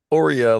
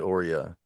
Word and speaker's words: Aura: Ora, like Oreo cookie, but Ora.